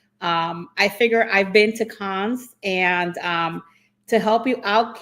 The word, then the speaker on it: Cannes: I figure I've been to cons, and to help you out, Keith, is niece.